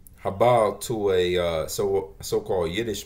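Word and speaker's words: הבל: say that Hebrew word habal habal to a uh so-called Yiddish man Strong's h 1892. hevel that's how they pronounce it in the Yiddish a little different than How We Do they'll probably tell you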